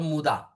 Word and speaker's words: muda: The word for the west in Japanese is called as muda or muda. Pronunciation is muda. So that is called as muda.